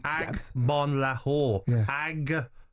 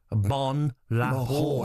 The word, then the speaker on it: Agbonlahor: Agbonlahor. Agbonlahor.